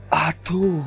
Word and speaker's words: Atho: Dhokla, Khaman Dhokla, Atho, oh sorry, my friend told me to pronounce it accurately, so it's Atho, with passion, you know, with passion.